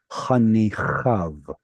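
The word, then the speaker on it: חניכיו: So any final yod vav, you can kind of ignore the yod. Chanichav or achiv.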